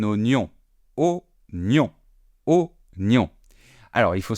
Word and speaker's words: oignon: Il y a un « i » et pourtant on ne le prononce pas. On ne va pas dire « oignon », on va dire un oignon.